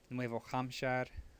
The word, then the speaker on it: Nuevo Hampshire: Nuevo Mexico, Nuevo Hampshire, which that's one of the rare cases in Spanish when that H gets pronounced, and that's because it's a foreign word, so they do pronounce the H there.